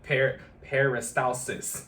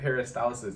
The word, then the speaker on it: peristalsis: But peristalsis, okay, one of those bodily functions that's affected by again the frequency of consumption of water and not necessarily the amount.